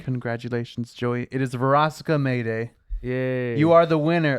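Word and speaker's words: Verosika Mayday: I can Veronica is incorrect.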